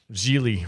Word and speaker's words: Gigli: your final thoughts on geely rhymes with really i'm ashamed that you